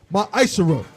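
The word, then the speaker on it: מעשר: Salaka you can find this in numbers 18 and 21 and Malachi chapter 3 8-10 means 10th in Hebrew and is pronounced myisher 10% of every penny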